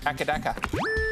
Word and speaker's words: AC/DC: Which band's name is often pronounced Akadaka?